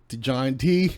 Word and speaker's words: Johnte: it to John - John T okay you know like like T would be pronounced like Tay yeah you know in